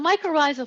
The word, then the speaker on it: mycorrhizal: Does that mean that 90% of the phosphorus found in plants is provided by the I'm not quite sure how to pronounce it. Yes, mycorrhizal.